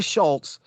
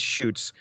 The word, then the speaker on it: Schutz: Kamiko Comics editors Bob Schreck and Diana Schultz, I pronounced that wrong, I think it's Schutz, appreciated the book enough to commission Siegel's next work, The Amazon, an eco-fable drawn by artist Tim Sale.